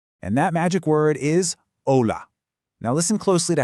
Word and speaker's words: hola: The H is always silent. I mean, always. So it's never, ever hola, it's hola.